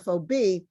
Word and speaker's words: FOB: still using it but was only pronounced as an initialism fob when i first heard